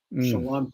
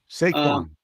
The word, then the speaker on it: Saquon: Shawan Barkley. Did I say it right? Saquon. Saquon Barkley.